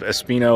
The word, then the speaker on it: Espinho: So again, we are currently in the town of Espinho, at least that's how I pronounce it, which is apparently completely wrong, and I do not doubt that for one second.